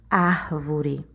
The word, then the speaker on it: árvore: Por exemplo, a palavra árvore. A palavra árvore, a sílaba tônica dela é o ar, né? Quando você fala a palavra árvore, observe que você demorou mais na sílaba ar.